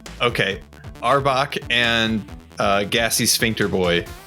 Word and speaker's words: Arbok: Firebolt on both Arbok Arbok right am I pronouncing that right yes and it's Cobra backwards oh that's right okay Arbok and uh gassy sphincter